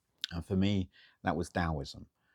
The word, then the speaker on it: Taoism: And for me, that was Taoism, spelt with a T, but pronounced with a D. Funny Chinese word. So Taoism is a beautiful bridging philosophy.